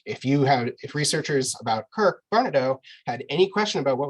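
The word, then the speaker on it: Varnedoe: Is there any correspondence with Kirk Vanadu? With who? Kirk Kirk Barnadow. Yes, yeah. There's a lot, actually. Sorry, I mispronounced that.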